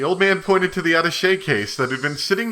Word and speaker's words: attaché: How do you say that? I've never actually known how to say that. Hold on. Attaché. Attaché. I like the accent on that.